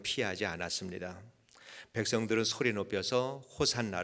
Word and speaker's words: 호산나: 구원해 달라고 하는 말이고 또 호시 하나가 호산나 가 된 것은 히브리 마리의 헬라 식으로 발음을 하다보니까 호산나 가 된 것입니다 그곳에 모인 그 많은